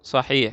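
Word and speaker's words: صحيح: Ini dibacanya alamata sahih ini. Cara bacanya sahih.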